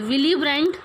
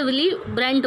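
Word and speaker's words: Willy Brandt: में कमी आई थी विलिब्रांड विलिब्रांड प्रिंटर इस मैटर जो है वह साइलेंट है इसलिए विली ब्रांट बोलते हैं और द इसमें यूज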